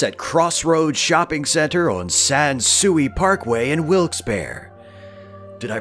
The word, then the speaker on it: Sans Souci: Find us at Crossroads Shopping Center on Sansui Parkway in Wilkes-Barre. Did I pronounce it correctly that time? Sansui is right?